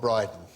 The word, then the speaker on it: Brydon: got one about Rob Briden oh just because I found something that rhymes with brighten yeah there was a